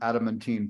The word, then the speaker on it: adamantine: And many of you probably have not heard of the term adamantine particles. Well, I hadn't heard of the term either. Yes, we have the Adam Catman. Pardon me? The Adam Catman. Pronounced adamantine. Yeah.